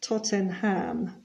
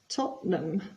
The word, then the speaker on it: Tottenham: is always nil and you'll notice that it's not Tottenham but Tottenham and not Leicester but Lester Tottenham are winning one